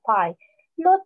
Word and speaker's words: pilot: And we read it with, we read it pilot because it's an open syllable, so it has a long vowel sound.